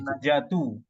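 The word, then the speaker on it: النجاةُ: an-najatu. Bacanya an-najatu Bapak karena dia menjadi mubtada muakhor.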